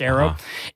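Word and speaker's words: Arreaux: at the aerotech arrow it's spelled a-r-r-e-a-u-x but it's pronounced arrow it's a fancy hot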